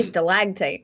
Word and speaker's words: stalactite: a static type instead like no we say stalactite and stalagmite uh stalag tight that's that's more fun renaissance is on the second syllable yeah i don't know what it is